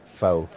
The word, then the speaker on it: pho: I still call it pho. Like F-A-U-X.